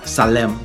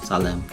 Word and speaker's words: Salaam: said to them um Salem Salem assalam Salaam no not Salem Salaam Salam I said Salam Nash all right